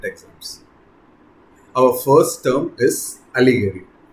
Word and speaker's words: allegory: Our first term is allegory. Notice how it's pronounced with the emphasis on the first syllable.